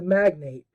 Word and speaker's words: magnate: I would have changed it to magnate rather than glossing over it.